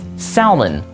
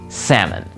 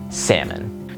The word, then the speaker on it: salmon: word is really pronounced salmon. Just pretend like the L is silent and you have the pronunciation of the word salmon.